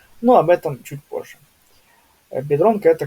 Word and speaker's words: Biedronka: слове бедронка, да, всем известная бедронка, не бедрёнька ни в коем случае, а именно бедронка, да? То есть в данном случае у этот и выполняя функцию мягкого знака. То есть мы говорим не биедронка, а именно бедронка, да?